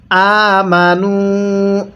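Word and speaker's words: آمنوا: এরপরে আমানু হামজা খারা জবর এজন্য এক আলিফ টান দিব।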